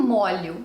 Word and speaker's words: molho: a gente fala um molho de chaves. E se forem mais, 2, 3, 4 molhos de chaves. Essa é a pronúncia correta, uma pronúncia aberta, diferente do molho culinário.